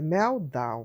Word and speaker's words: meltdown: Se escreve meltdown, mas é meltdown.